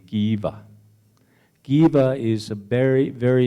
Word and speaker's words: Kiva: And I told him, well, in the Hopi language, the pronunciation is Kiva. The way you say it is Kiva.